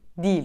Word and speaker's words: değil: şeklinde kullanalım altıncı sırada yanlış haliyle çok sık vurgulanan bir kelime var değil ama değil değil Doğrusu değil olacak Yani değil demeyeceğiz değil diyeceğim bu değil 5.